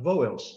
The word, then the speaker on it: vowels: Vowels é uma sílaba só. Palavra de seis letras, uma sílaba só. Vowels.